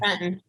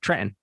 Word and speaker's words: Trenton: Trenton. That's how we say it at home. Trenton. Yeah, we don't say the T, right?